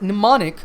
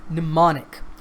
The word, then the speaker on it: mnemonic: It's mnemonic. The M at the beginning of the word is silent.